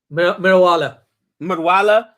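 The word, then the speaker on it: Meriwala: Am I saying it right? Marawali? Mirawala. Yeah.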